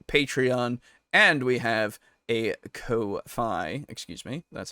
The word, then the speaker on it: Ko-fi: We have Patreon, and we have a Ko-fi. Excuse me. That's how you're supposed to pronounce it.